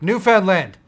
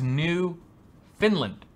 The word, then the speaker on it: Newfoundland: found it what should we call it like Newfoundland it's brilliant I always thought it was new Finland that's how it's pronounced typically Newfoundland ok this should be an